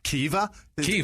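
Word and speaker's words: Caoimhe: the person deserves it there's a v in there yeah it's like uh what was it so c a o c a o i m h is pronounced I Googled it because Kea that's how you pronounce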